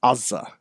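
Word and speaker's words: עזה: And when you hear an Israeli say it, it's Azza.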